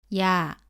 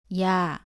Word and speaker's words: ㅑ: 오른쪽으로 두 번 씁니다 발음은 2 에서 시작해서 빠르게 아루 이어서 발음합니다 따라해보세요 야 야 다음은 여 입니다 연은